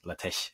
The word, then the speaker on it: LaTeX: I wrote the submission in LaTeX, or that's the name of the program, LaTeX, if you want to be really geeky about the Greek pronunciation.